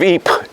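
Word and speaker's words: Ypres: this the city of Eep and Flanders was better known to British and Canadians as wipers because that's always y-p-e-r-s how do you pronounce that well that's wipers of course in fact there was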